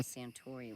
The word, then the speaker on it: Suntory: Oh, outlaw Suntory rhymes with story.